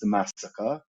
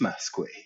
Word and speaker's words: Massacre: close to ansel ray it's not pronounced the massacre it's masque and the second one is